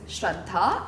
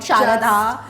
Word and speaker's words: Shraddha: My name is Shraddha and not Sharadha, Sharadha. And what's the new one? Shraddha.